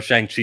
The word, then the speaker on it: Shang-Chi: Or Shang-Chi, if you want to pronounce it correctly.